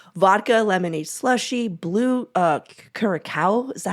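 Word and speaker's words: Curaçao: know it incorporates vodka lemonade slushie blue uh Kura is that how you say it John I uh carasel carasel thank you uh old bartender here or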